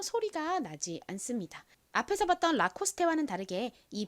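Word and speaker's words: Lacoste: 읽어 보면 라코스테가 되죠 라코스테 사실 보통 영어 단어에서는 끝에 이렇게이가 오면 헛개 비로 소리가 나지 않잖아요 그런데이 라코스테라이브 영어 단어가 아닙니다 제가 알기로는 프랑스어로 알고 있어요 그래서 읽는 방식이 좀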